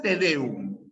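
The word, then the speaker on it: tedéum: tedeum Qué cosa es tedeum tedeum es es una palabra aguda primero es una palabra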